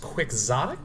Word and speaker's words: quixotic: think I allege confirmatory all right it is quixotic you asked for it come on soul shall be mine this word is pronounced quixotic it's not actually pronounced Quixote chemo is based